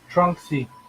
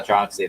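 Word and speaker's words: Tronxy: what is it because i always say the name wrong like uh trunks trunksy yeah troxy there you go uh it's the 400 by 400 by 400.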